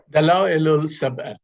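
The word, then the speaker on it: Dalá'il-i-Sab'ih: Dala'il-Sab'a. Can you pronounce this for me, Dr. Vahid? Dala'il-Sab'a.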